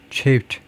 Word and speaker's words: chafe: ch는요, 쉬로 할 거냐, 치로 할 거냐. 그런데 주로 이제 치입니다. 영어에서는요. 불어에서 나온 것들은 이제 chef처럼, chef처럼, 불어에서 나온 건 이제 쉬라고 발음하죠. 대부분 이제 choose처럼. 그래서 chafe. 그래서 불만으로 느끼다요.